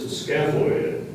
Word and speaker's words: scaphoid: Your word is scaphoid. Scaphoid. Would you please repeat the word? Scaphoid. Are there any alternate pronunciations?